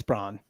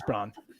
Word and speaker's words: Brawn: Bruce Brown and too yeah that's and no it's Brawn don't do that it's bro don't let him do that don't let him do that to you it's Brawn it's okay how do you